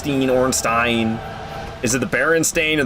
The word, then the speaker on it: Ornstein: I'm already pronouncing Ornstein wrong. Ornstein.